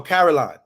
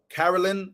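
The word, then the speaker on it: Karoline: uh by the way her name is pronounced like Carolina so Caroline Carolyn all right so I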